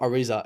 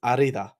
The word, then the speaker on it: Arrizabalaga: It's not Ariza. It's Arida.